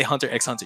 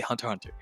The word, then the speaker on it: Hunter x Hunter: right hunter x hunter the x is silent you don't say hunter x hunter you say hunter hunter so i played it